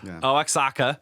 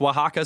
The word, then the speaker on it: Oaxaca: use to pronounce it so like Alex akka looks like Alex akka yeah but it's pronounced Oaxaca so they should spell